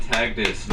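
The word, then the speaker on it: Taghdis: is Instagram tagus mostly Tik Tok though Tik Tok tagus as well spell that name please t a g silent h d i s and is sea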